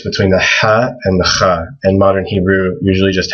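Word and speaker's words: خاء: And this is also hard to pronounce. But people usually write a KH for kha. It's similar to, like in Hebrew, people say Hanukkah. It's the exact same sound in Arabic.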